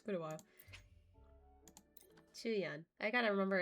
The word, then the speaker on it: Qiuyuan: Qiuyuan. I gotta remember it's his, that's how you say his name. Qiuyuan.